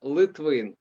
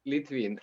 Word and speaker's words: Litvin: last name yeah yeah in ukrainian i pronounce uh litwin but for foreigners is difficult so i say litwin and by the way